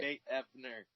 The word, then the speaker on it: Nate Ebner: Nate Ebner.